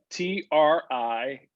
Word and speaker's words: Triduum: spell that again yep t-r-i-d-u-u-m thank you look it looks like it's could you um but it's just triduum yeah okay and again